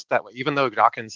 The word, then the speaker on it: Dawkins: pronounced mispronounced it as dockings but a lot of people do that and so yeah it's important people to remember when mentioning Richard daw's name it ends just with NS not NGS so just just keep